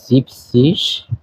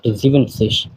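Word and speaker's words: siebzig: বলা হইতেছে jigs সিস 70 কে বলা হয় জিপসিস নট জিভেন সিস একটু ব্যতিক্রম এটা মনে রাখতে হবে 80 কে বলা হইতেছে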